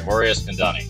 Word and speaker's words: Eskandani: well-known poker producers and president of Poker go Mor Isani did I pronounce that right morus kandani yes you did Perfect all right because I